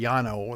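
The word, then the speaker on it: Llano: kingsland branch library in yano county now that's a spanish word capital l l a n o candy yano that's how it's pronounced uh the termination letter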